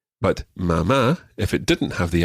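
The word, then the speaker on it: mamá: more likely to say mama mama and papa papa now just one other thing we mentioned accents already mama and papa both have accents on the last syllable normally spanish words are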